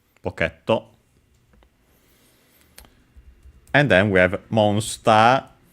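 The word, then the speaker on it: ポケット: And uh it's actually in this case on the K. So PTO uh instead of on the P as expected. So be careful. uh at least I would have uh as a in pocket uh and so yeah uh I expect on the pot but yeah it's actually on the case so be careful pocketto and then we have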